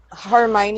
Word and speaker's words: Hermione: worry it's from harry potter how do you pronounce that word and who is she talking about mania hermione oh she's talking go ahead hermione's from harry